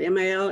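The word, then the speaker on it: Milne: your name is Jackie mil how do you pronounce it m i l n e mil yes mil mil you know yeah good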